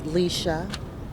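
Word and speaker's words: Lesia: out your name for me and how to pronounce it it's Leisa and it's l e s i a okay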